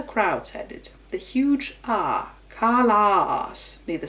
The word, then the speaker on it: Callas: she and her crowds headed a huge aah Karla neither syllable emphasized that the cost of the other